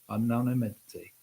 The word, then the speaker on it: anonymity: Anonymity.